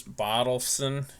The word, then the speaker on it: Bottleson: I always say this Mike's name wrong. It's Bottleson.